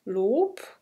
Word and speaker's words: Lob: So, und das funktioniert natürlich alles sehr gut, wenn wir sagen, okay, im Wort Lob wird b als p ausgesprochen.